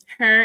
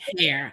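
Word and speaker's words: Herr: Her is pronounced like how you guys say hair. Okay, so hair. Down south, we say her.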